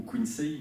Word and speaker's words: Quincey: D'autres estiment que cette place revient à Thomas de Quincey, ou Quincy d'ailleurs, si on le prononce réellement en fonction de son origine, puisque c'est un Britannique qui signa un texte